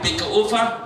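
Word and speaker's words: Baeckeoffe: Le Bäckerofen, dit le four du boulanger, prononcé Bäckerofen, que l'on déguste le dimanche dans les familles barénoises, le dimanche où il n'y a pas de choucroute.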